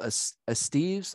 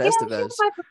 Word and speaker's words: Estevez: have uh jill uh jill as steve's i think that's how you say it it's not estevez she's my producer i